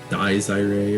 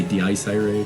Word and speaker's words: Dies Irae: I say it wrong. It's Dies Irae or whatever. I like to say Dice Irae because it just sounds cool. It's like Dice Ray.